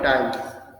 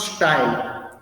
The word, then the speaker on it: tile: Number of tiles, okay, are required is equal to total area and area per tile. Area per tile, it's tile, huh? It's not style.